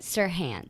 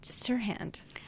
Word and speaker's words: Serhant: I made Molly look up how to say his name because I never know if it's Haunt or Hant. What is it? Serhant. Serhant.